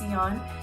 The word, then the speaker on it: Tsioyn: my name is seon i know it's spelled weird but it's pronounced theon um i hope you